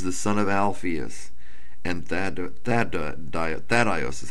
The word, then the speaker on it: Thaddeus: James, the son of Alphaeus, and Thaddeus is how I pronounce it, Thaddeus or Thaddeus.